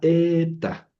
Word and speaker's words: eta: Luego sigue la ETA. La ETA es engañosa porque no es la H. La eta es una e.